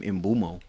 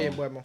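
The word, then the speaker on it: Mbeumo: You pronounce his name Mbumo. Embuemo. Mbumo, something like And that. Boom and Bueno. I don't. I'm gonna stick with Mbumo. Sorry. Embuemo. Yeah, gotta be Embuemo.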